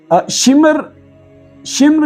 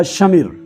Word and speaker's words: شمر: السلام علیکم ورحمۃ اللہ وبرکاتہ۔ شمر یا شمر، یہ دونوں طرح سے اس نام کا تلفظ ہوتا ہے۔ یہ شمر ذوالجوشن کے نام سے مشہور ہے۔ آیا یہ کون تھا؟